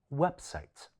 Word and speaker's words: website: website 最後短片嘅男士問到嘅問題，將呢一個字讀成 discount 。